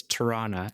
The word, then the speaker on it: Toronto: Now I'm I lived in Toronto for a long time, but when you're from Toronto, you don't pronounce the T's. It's Torana.